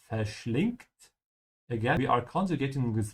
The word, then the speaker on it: verschlingt: Verschlingen is to devour, and remember to pronounce the V like an F. In German, most of the time, the V is pronounced like an F. Verschlingt.